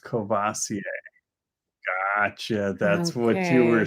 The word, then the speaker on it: Courvoisier: yeah let's see alone is saying whatever that word is is pronounced Courvoisier gotcha that's what you were saying I get